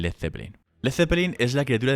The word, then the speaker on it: Led Zeppelin: balon por Zeppelin y Peter Grant le dijo que quitas la a de led para evitar que lo pronuncias mal quedándose en Led Zeppelin Led Zeppelin es la